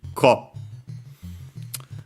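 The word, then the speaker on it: 一個: And yeah, so unsurprisingly, that t then was difficult to pronounce, actually became the doubling of the following consonant, ikko.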